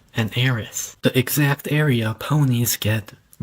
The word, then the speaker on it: Eris: The term is actually pronounced iris, when the main characters